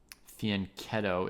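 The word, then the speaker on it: fianchetto: Fianetto, it's pronounced like K.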